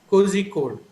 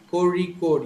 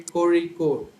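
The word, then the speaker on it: Kozhikode: who are not aware of this sound will pronounce it as cozy cozy code so but actually the sound is a ra corey code you're supposed to say corey code and there's a place in kerala called aleppo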